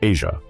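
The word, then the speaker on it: Eja: In 2001, they welcomed a son named Asia, pronounced like Asia.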